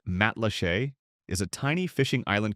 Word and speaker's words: Matlacha: Matlacha, pronounced Matlachey, is a tiny fishing